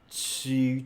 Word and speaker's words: ち: So just to become t, ta, chi, chi, chi, chi, chi. So why not just to pronounce chi? Okay, that's how the sound changed.